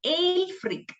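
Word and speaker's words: Ælfric: bead or alfred this this is another person ale freak a e l f r i c we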